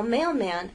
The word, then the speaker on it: mailman: like this mailman now mailman actually has two syllables mailman we can divide it right there mail man so